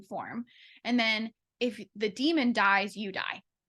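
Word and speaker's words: daemon: Damon it's spelled d-a-e-m-o-n in the closing demon pronounced demon and basically it's like an animal companion that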